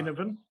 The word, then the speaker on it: Ginnivan: Hard to pronounce. Well, it's definitely a hard G. I read that yesterday. Ginnivan?